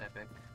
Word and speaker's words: Epoch: Is it Epoch or Epic? I'm pretty sure it's pronounced Epic.